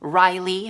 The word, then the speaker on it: Rayleigh: Yes, Rayleigh, pronounced Riley from Theta Apple Pie.